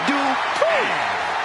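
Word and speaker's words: Dupri: Uh, Michael, it's pronounced Dri representing the Alpha Academy from Phoenix, Arizona.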